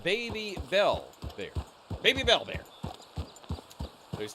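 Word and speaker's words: Babybel: Oh, it's pronounced baby bell bear.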